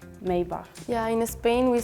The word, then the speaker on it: Maybach: is Mercedes yeah yeah so in Germany we say Maybach in English I think we can say Maybach but I've honestly never